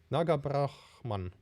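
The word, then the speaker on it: Nagabrahmam: Nagabrahman. I'm actually, Nagabrahman. No, sorry, it's an M at the end. I'm trying to learn your names, guys. Trying to get the pronunciation correctly, at least somewhat. Nagabrahman.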